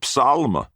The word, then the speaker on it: psalm: But it is a psalm. He pronounced the P, and he pronounced the L.